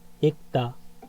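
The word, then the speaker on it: 읽다: ছেগুল ইকতা, ছেগুল ইকতা। একটা বই পড়ছে এই আমরা বাচ্চিমের রুলসে পড়ছিলাম, রিয়ল গিয়ক এবং রিয়ল মিয়ম থাকলে শেষেরটা উচ্চারিত হয়, ঠিক আছে?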